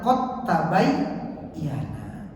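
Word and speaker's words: قد تبين: Qabayandu qod tabayyana. Cuma dibacanya qod tabayana dalnya itu langsung melebur ke ta.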